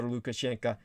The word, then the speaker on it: Lukashenka: belorussian dictator alexander are in the correct slavic pronunciation alexander alexander lukashenka has turned the country into his very own miniature soviet union when he first came to power in 1994 lukashenko made his intentions clear